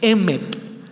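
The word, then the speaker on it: אמת: Pero para el judío, que era diferente a la cultura griega, el término verdad, que era una palabra que se pronuncia así, emet, verdad para el judío significa algo más existencial.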